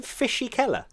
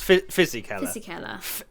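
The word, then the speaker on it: Fisichella: what was his name did you call him fishy keller yeah fizzy color thank you i'm sorry it's fizzy kelly fishy keller i've never heard that i don't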